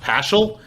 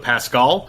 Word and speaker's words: Paschal: We believe, actually, I guess his last name is pronounced Paschal instead of Pascal, which is very confusing for us as we're just trying to read about this.